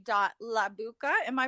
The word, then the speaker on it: Labucka: a dot j or dot j dot labouka am i pronouncing your last name correctly in my language it's uh la botska okay i love that okay so l a